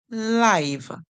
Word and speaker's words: live: same as this word this word is live live so we hear the vowel call its own name we he I live